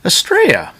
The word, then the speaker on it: Estrella: um this is the spelled Estella but is pronounced estrea so if I slip up anywhere in this